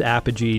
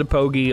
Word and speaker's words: Apogee: i think they partnered with apogee no it's apogee don't get mad at me i always called it a pogie i'll die calling it a pogie because i didn't know